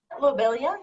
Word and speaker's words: lobelia: uh is it lobelia is that how you pronounce that lobelia yeah yes that that seems to be significant